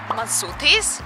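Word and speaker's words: Μασούτης: And now we are in front of the supermarket, which is pronounced Masoutis, even though it's like written in Greek, so it's a little bit hard to understand.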